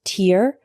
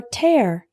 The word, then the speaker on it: tear: The word tear can be pronounced tear or tear.